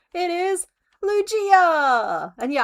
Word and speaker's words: Lugia: It is Lugia. And yeah, I hit it with a soft G. It's not Lugia. It's not a Lugia. It's Lugia.